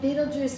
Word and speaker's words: Betelgeuse: and gave it a different meaning okay but beetlejuice is the name if you want me to spell it it's b e t e that's b